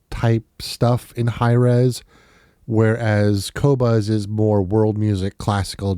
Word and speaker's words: Qobuz: do you spell that kobas kobas is spelled q b u z and the other reason